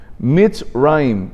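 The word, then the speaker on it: מצרים: En hebreo, Egipto se pronuncia Mitzrayim, que es combinación de dos palabras, y significa la concentración de toda la maldad.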